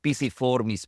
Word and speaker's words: pisiform: Pisiformis, piriformis, not pyriformis. Because it's Latin, so it should be pisiform. Yeah. Yes, we're here, so it's pisiform. I just came from a training in England, so it's pisiform.